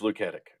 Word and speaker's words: Luketic: it is Luketic.